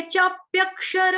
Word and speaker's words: चाप्यक्षर: चाप्यक क, ये चाप्यक, पूरा क लगाएंगे तो कैसे हो जाएगा, ये चाप्यक। तो ये गलत उच्चारण हो जाएगा। क्या बोलना है हमको, ये चाप्यक, ये चाप्यक क्षर, ये चाप्यक्षर, सॉरी एक सेकेंड, ये चाप्यक्षर।